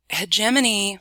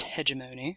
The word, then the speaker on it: hegemony: later possibly hegemony okay so hegemony sometimes pronounced hegemony depending on who's talking hegemony or hegemony is kind of a